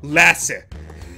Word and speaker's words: Lassie: I pronounce this right, Lassie? They've said it's they've said it's pronounced molasses, but without the M-O or final S, so Lassie.